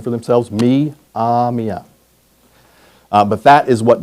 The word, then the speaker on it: Myaamia: Mia, their traditional name for themselves, Mamia.